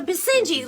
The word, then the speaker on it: Basenji: necessarily true I've heard the uh B sinji yes the Basenji like it's spelled terrific yeah would you